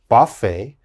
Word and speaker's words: buffet: chevrolet and the last one very difficult to pronounce uh this is a buffet buffet and of course a buffet is when you